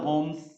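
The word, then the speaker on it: Holmes: देखो याद है हमने आपको कन्वेक्शनल होम्स होता है, आर्थर होम्स, एल साइलेंट होता है।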